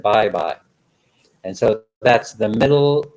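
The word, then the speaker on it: Baybay: bye bye city leyte that's bay bay but they pronounce it bye bye and so that's the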